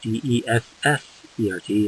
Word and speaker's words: dessert: Okay, D-E-S-S-E-R-T is always pronounced dessert. Dessert.